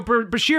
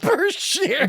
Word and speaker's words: Bashir: So Bashir has infirmary problems. Berkshire.